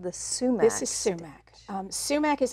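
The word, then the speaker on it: soumak: And in the Western, in the Western world, it's become pronounced as sumac, S-O-U-M-A-K.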